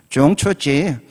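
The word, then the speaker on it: 中秋节: 그랬더니 이렇게 발음하더군요. 중추지.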